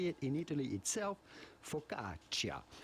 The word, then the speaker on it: focaccia: it in italy itself focaccia focaccia because there is a double c there it is focaccia that settles it hey